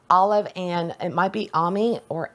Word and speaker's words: Ami: and it might be Ami or Amy. Just considering their last name is Hernandez, I would assume it's Ami, because that's how you would pronounce the A in Spanish.